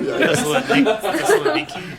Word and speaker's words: Thessaloniki: Or Thessalonica. Thessalonica. Yikes. Okay. Thessaloniki.